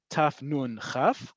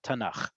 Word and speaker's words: Tanakh: We don't say taf nun khaf, we say Tanakh.